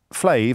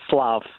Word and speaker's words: Slav: Is it Flav, as in Flavor Flav, or is it Flav? It's actually Slav. Slav with an S.